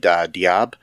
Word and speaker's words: Diab: was uh directed by muhammad diab diab um i think that's how you pronounce it d-i-a-b um written by